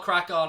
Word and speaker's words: CRAiCON: So it's called Crack On. It's spelled CRAICON.